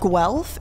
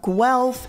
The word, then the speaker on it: Guelph: and we'll put that up is University of Guelph is how y'all said it's pronounced I would have never thought that that